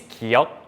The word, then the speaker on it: 기역: This is 기역 with a G sound, 그.